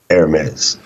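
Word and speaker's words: Hermès: to find out but when you go look it up anywhere including the uh what do you call it the AP um Associated Press pronunciation guide It's ARS right if there's anyone listening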